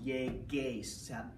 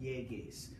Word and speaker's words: llegues: L-L-E-G, you have to add this, you have to make that gay sound, yeges, the hard G, you have to add the U, no yeges.